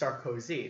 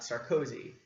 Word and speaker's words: Sarkozy: You have to say it, his name is pronounced Sarkozy, not Sarkozy, because of the way that you stress certain syllables when pronouncing it, because it's not English.